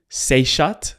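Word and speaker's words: Seshat: my research I found this ancient goddess called seot is that how you pronounce seot yes it's the concort of th what was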